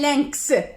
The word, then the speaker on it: lynx: Alors ici, un lynx, X se prononce.